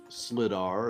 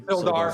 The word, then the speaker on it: Sildar: Slidar or Slida? How do you say his name? Sildar. Sildar. Sildar.